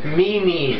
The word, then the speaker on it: Mimi: How do you pronounce Mimi? Mimi.